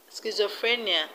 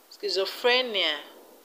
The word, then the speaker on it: schizophrenia: stress is only malaria schizophrenia the stress is on free schizophrenia euphoria the stress is